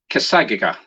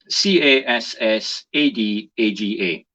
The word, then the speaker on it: Cassadaga: I'm going to do my best to pronounce this. Cassaga. Cassadaga.